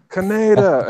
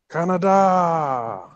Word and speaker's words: Kaneda: What burned into my memory is like the original dub of them yelling, Tetsuo, Kaneda, and they don't say it like that anymore. I think it's like Canada.